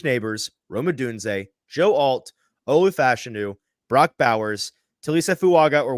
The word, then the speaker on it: Olu Fashanu: alt and their second tackle is not actually ol fashanu I keep saying it wrong Olu fashanu it's tily fuaga it's JY leam it's uh